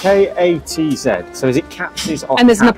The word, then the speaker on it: Katz's: How do you pronounce it? Katz's. Because it's K-A-T-Z, so is it Katz's or And there's Katz? an apostrophe S. Ah, okay. So Katz's.